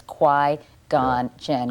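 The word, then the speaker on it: Qui-Gon Jinn: Qui gone Jen. Quai like in Quiet. Yeah. Gone as in Oh, he's gone and Jin as in tonic.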